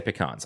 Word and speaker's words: pecans: For example, pecans, and that's how you say it. You say pecans. I don't care. I will die on this hill. It's pecans.